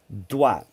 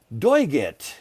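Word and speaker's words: doigt: dwa but if you if you actually didn't know how to pronounce french and you just looked at that you'd go doiget you know you would almost say digit just by reading it right what about spanish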